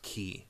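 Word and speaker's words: χ: prophecies i think that's actually supposed to be pronounced kingdom hearts key oh really the x is key because it's c-h-i it's the letter the greek letter is chi but they're saying a key because of key blade so yeah but there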